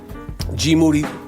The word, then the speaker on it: Moody: And then we have G, G Moody, last name rhymes with duty, breaking down everything and anything he wants.